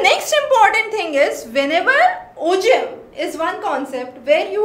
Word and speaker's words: ogive: So you have, it's Ogive, but it's pronounced as Ogive. So that's again important. It's G, but we pronounce it as J.